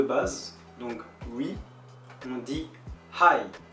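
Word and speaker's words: はい: Donc d'abord les mots de base, donc oui, on dit hi, hi, avec un H, on prononce bien le H, hi, oui.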